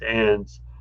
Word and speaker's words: EINDS: Uh, It says there's a pandemic called the EINDS, environmentally induced nucleotide degenerative degeneration syndrome, pronounced ENDS.